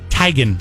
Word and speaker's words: Teigen: say it i said teigen i went to school the brett teach and he spelled his name the same tigen is how she says maybe that's how he